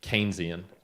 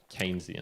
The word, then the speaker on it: Keynesian: keep saying it wrong but it's keynesian keynesian canes even though it's spelt kinesium nes chained keynesian uh